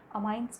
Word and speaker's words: amines: कुछ लोग उसे अमीन्स भी बोलते हैं, depending upon the pronunciation is, बट हमने सीखा है अमाइंस बोलना तो हम भी आपको अमाइंस बोलना ही सिखाएंगे।